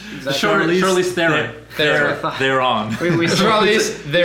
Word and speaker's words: Theron: He rides shotgun, while literally the female Charlize Theron and her the breeders. Theron. How do you say her name? Charlize Theron. They're on.